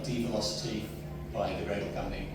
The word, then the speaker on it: Develocity: by the Gradle company, I think they pronounce it develocity. I don't know, I always pronounce it dvelocity because normally dv means reduction. Why would you call the tool a reduction in velocity?